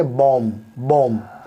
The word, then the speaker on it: bomb: B silent होगा उन शब्दों के अंदर, जैसे BOMB, यहाँ पर बॉम्ब नहीं पढ़ेंगे, बॉम्ब। बी जो है वो साइलेंट है।